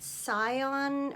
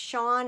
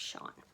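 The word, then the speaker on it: Sian: mentioned it was pronounced Sean and then I went looking on the internet and it turns out it is a Welsh or Irish name and it's pronounced Sean so I um I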